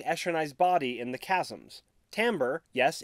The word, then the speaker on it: Timbre: to venely finding esrenai's body in the chasms Timbre yes it's pronounced Timbre finds a new person to bond the epigraphs